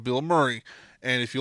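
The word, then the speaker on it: Bilmuri: ] phenomenal dude um it's not spelled like his name it's spelt b-i-l-m-u-r-i bill murray and if uh if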